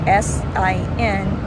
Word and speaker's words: sin: but not the s-h-i-p same with this word s-i-n it's pronounced as Sin all right Rosita can you